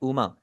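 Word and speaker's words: うま: Next है उ जी double O ज़ू के अंदर जो उ की आवाज आ रही है बिल्कुल ऐसा ही आपने इसे प्रोनाउंस करना है।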